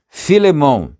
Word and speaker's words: Filemon: Então, Filemon, alguém disse lá atrás, eu penso que é realmente a pronúncia correta disso.